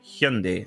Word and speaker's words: Hyundai: I've been saying Hyundai, which is, of course, a very British way to pronounce it. So I'm very sorry, Tyler. I'm so sorry. Hyundai. I need to get into the Hyundai. Hyundai like Sunday to get into that habit.